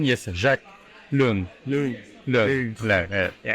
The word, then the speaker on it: Jacques Luong: It is Jacques Luong. For the French pronunciation, yes, Jacques Luong.